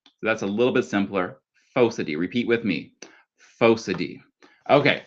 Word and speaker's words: Phocidae: Phocidae. Repeat with me. Phocidae. Okay, so starting from the top with walruses we have Odobenidae, we have the eared seals Otariidae and Phocidae, which are the earless seals.